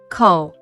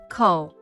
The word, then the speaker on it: 口: This word is the 3rd tone, so it should be ko. Now, let's talk about mouth radical. Ko.